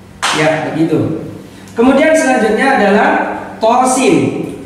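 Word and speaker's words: طس: Kemudian selanjutnya adalah tosin. Tosin to-nya 2 harokat, sin-nya 6 harokat.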